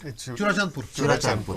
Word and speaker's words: Churachandpur: Churachandpur.